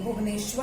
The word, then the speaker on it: भुवनेश्वर: ओडिशा का कैपिटल है भुवनेश्वर, स्वर बोलते, भुवनेश्वर भी नहीं, भुवनेश्वर। तो हम स्पेलिंग लिखते हैं भुवनेश्वर की, BHUVNESWAR, भुवनेश्वर, भुवनेश्वर, ओडिशा, भुवनेश्वर।